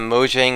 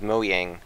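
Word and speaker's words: Mojang: all um is perhaps finding out that Moang is actually pronounced Moyang.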